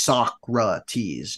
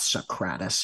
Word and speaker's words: Socrates: It's pronounced Socrates, not Socrates. How dare you?